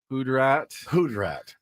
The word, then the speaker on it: hoodrat: The one that got me was Hoodrat. Hoodrat. Like, Ben, it's hood rat. Oh, Hoodrat. I'm putting the emphasis on the wrong syllables That's right.